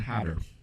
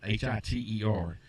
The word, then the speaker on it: Hyder: Savion Hyder. Savion Hyder. Hiter. It almost looks like Hitler, but there's no L in it, so it's pronounced Hyder.